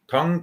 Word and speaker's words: Tang: Okay, when I say Tang, it looks like Tang, T-A-N-G, but the correct pronunciation is Tang.